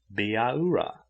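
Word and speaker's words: Bihaura: not north american indian biara but he did not pronounce it according to english notions of spelling spelled b i h a u r a it sounded like biaura with every syllable sharply emphasized she took charmian by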